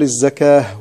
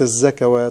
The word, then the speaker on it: الزكاة: الصلوات، وكلمة الزكاة هكذا، نقول الزكاة وليس الزكوات. الحمد لله.